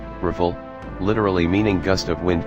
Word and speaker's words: Rafale: The Dassault Rafale, French pronunciation, Rafale, literally meaning gust of wind, 10 and burst